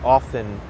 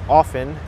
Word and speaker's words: often: and i also pronounce often incorrectly it's often you don't pronounce the t the t is silent it's incorrect to say